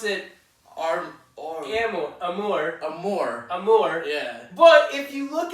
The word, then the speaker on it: Amour: I'm pretty sure you pronounce it Amour.